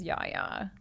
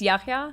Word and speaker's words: Yahya: anthony yes and so anthony is yaya yeah yeah yeah it's yahya yeah he did say that